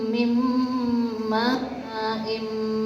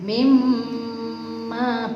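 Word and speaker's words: مِن مَّاءٍ: Jadi nunnya itu tidak terbaca, tapi terbacanya mim, karena nunnya sudah masuk ke mim. Kemudian dibaca gunnah, gunnah itu berengengeng, ya, mendengung. Mimma, bukan minma, tapi apa?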